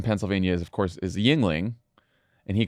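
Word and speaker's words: Yuengling: popular beers in Pennsylvania is of course is Yingling and he called it yangling I mean that you you you'd have to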